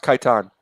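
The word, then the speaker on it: Kaitain: the emperor kit yeah it's pronounced Kiton you're pronounced Kiton so y i i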